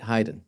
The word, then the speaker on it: Haydn: But I was thinking Joseph Joseph Haydn, right? Haydn. Yeah. You think of hide and seek, exactly.